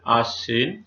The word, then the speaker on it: আশ্বিন: প্রথম নিয়ম, বাংলা উচ্চারণ রীতি অনুসারে পদের মধ্যে কিংবা শেষে বফলা থাকলে সংযুক্ত বর্ণের উচ্চারণ সাধারণত দ্বিত্ব হয়। যেমন আশ্বিন, এখানে তালবস্য বয় আছে, এটি দ্বিত্ব হয়েছে আশ্বিন।